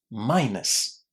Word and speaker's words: minus: Well, the vast majority of students will pronounce the last two letters in this word the way they see them. But guess what? They are not pronounced like this. Listen. Minus. Minus. What did you hear at the end? It wasn't an oo, right? It was us. Us. Very, very similar to how we say the letter s in the British alphabet.